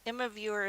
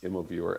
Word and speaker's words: Immoviewer: So Immoviewer is spelled IMMOVIEWER.us. It's just like it sounds. Two M's. Just like it sounds. MO and viewer.us.